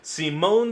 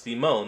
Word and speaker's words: Simon: That's right, today we're checking out a brand new video from Death Battle, Simone the Digger, yes it's pronounced Simone, not Simon, versus Kyle Rayner.